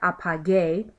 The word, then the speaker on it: apague: And so the only way to do that would be to add a U, which if you'll notice in pronouncing this word, apague, the U is completely silent.